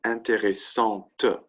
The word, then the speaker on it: intéressante: Intéressant, interesting. We had that example at the beginning. E, feminine, no E equals masculine, right? Intéressant and then intéressante, right? That's the key difference in the pronunciation.